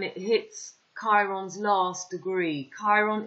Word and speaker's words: Chiron: i showed you k chiron when it hits chiron's last degree chiron is pronounced with a k not a chai it's written chiro aquarius